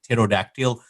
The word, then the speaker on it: pterodactyl: So that's like how you do this pterodactyl, like it starts with a P, but it is silent. The same way receipt, the P is silent.